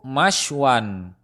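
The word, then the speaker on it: مَشْوًى: Lalu kita masukkan huruf mim berharokat fathah di awal lafaz dengan tetap mensukunkan fa fi'ilnya dan memfathatain ain fi'ilnya. Jika kita membacanya yaitu masywan, yang artinya tempat ataupun waktu memanggang.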